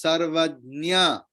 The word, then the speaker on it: सर्वज्ञ: लेकिन वो जो है हाफ ज आधा ज और पूरा इया तो इया एंड न सी the both are nasal letter so it sounds like same clear so actual pronunciation is sarvajna kshetrajna clear so ja and